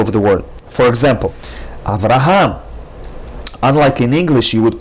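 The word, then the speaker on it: אברהם: In Hebrew, you would pronounce it with the accent on the last syllable, Avraham. Not Avraham, not Avraham, but rather Avraham.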